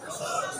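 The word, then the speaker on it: نصر: কোরআন মাহফিলে প্রবেশ করছি সূরা নসর কোন সূরা নসর বলেন বলেন নাসর নসর না নাসর নাসর নুন সোয়াদ র নাসরুন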